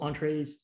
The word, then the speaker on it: Entrez: I was just going to say, entrez is actually pronounced entre. And it's a French word.